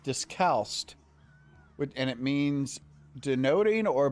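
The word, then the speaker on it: discalced: It's pronounced discalst and it means denoting or belonging to one of several strict order of Catholics, friars or nuns who go about barefoot.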